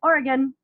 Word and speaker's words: Oregon: the country I think we tend to pronounce it incorrectly so if an Oregonian has not corrected you I was very nice in letting you know it's Oregon Oregon I've only been there